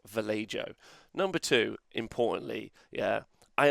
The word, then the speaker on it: Vallejo: or commenters or other people number one it's pronounced vallejo number two importantly yeah i understand we've did